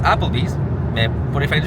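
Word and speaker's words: Applebee's: va aller manger au happle Bees il y a pas de H ça se prononce Apple Bees mais pour les fins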